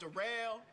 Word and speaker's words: Durell: It's spelled like Daryl, but it's pronounced Durell.